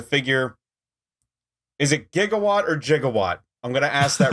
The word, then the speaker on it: Gigawatt: Is it Gigawatt or Jigawatt? I'm going to ask that right away. Back to the Future canon is Gigawatt.